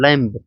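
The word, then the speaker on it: lamb: Shelter शरण स्थल लैंप लैंप। Lump लैंप लैंप मतलब वेड का बच्चा होता है। क्या होता है? लैंप। लैंप में बी साइलेंट है।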